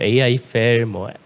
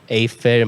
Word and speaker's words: AIFFEL: 아이펠이 사실 이렇게 영어로 써놓으면 보통 AI펠, A펠 많이 읽어주시는데 어떻게 읽어도 사실 상관이 없긴 한데요. 저희는 아이펠이라고 읽고 있는데 인공지능과 에펠탑의 합친 단어예요.